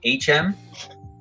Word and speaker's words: H&M: You pronounce it HM, but pronounce the H like in ho.